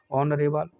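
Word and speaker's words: honourable: ठीक है, ऑनरेबल, इसमें भी एच साइलेंट रहता है।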